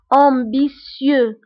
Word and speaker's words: ambitieux: طموح ambitieux فهنا ت ننطقها ب s ambitieux.